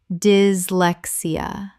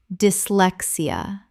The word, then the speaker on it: dyslexia: Common mispronunciation, dislexia. Correct pronunciation, dyslexia. The Y in dis makes a short I sound. Four syllables.